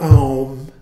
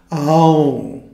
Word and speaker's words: Aum: And as we went over a couple of days ago, it's not Aum. In fact, I have a hard time even doing mispronouncing it properly. A-U-N, and then a moment of silence. Aum.